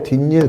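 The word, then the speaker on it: 뒷일: 자, 얘도 뒤일 이렇지 않죠? 뒷닐 그렇지? 뒷닐에서 없던 니은니 이렇게 생긴 거죠.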